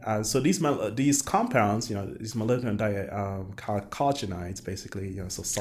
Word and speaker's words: chalcogenides: And so these compounds, these molybdenum chalcogenides, basically, so sulfur. How do you pronounce it? Chalcogenides.